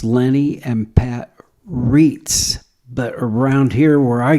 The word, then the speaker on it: Reitz: Louis when I was a kid named Kenny Reitz, and that's the way you say it. Yes. They say it wrong. Who's they? Your family. Well, I was told Reitz is in English and Reitz is German.